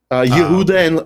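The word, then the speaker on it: יהודה: I think it was Yehuda. Yehuda and Shomron is the pronunciation I studied. Yehudim, that's the people. Ivrim as Hebrews. And then eventually it got anglicized because they can't pronounce it or something like that.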